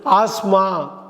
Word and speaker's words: asthma: அப்படி படிக்கக்கூடாது. ஆஸ்மா, TH silent, ஆஸ்மான்னு படிக்கணும். சொல்லுங்கள், ஆஸ்மா. ASTHMAல THஐ உச்சரிக்கக்கூடாது. ஆஸ்மாங்கிறது தான் சரியான உச்சரிப்பு.